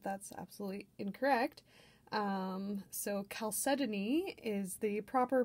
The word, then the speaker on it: chalcedony: forever and ever for years and years i pronounced it chalcedony and only recently found out that that's absolutely incorrect um so chalcedony is the proper pronunciation and i will try